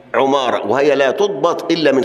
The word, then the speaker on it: عمارة: عندنا في علم الرجال غالب الاسماء عماره بكسر العين والقله منها عماره وهي لا تضبط الا